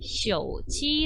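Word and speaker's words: 手机: 그래서요 숙 일하고 있고 발음은 쉬어 오지 라고 합니다 어떻게 한다구요 핸드폰은 cog 라고 발음하는 거야 예 일단 휴대 전화입니다 어떻게 읽어요 쇼지 그 다음에 컵 이라는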